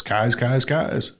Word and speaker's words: Keyes: But the most important thing to know is it's spelled Keys, Keyes, but it's Kai's. Shout it to the skies.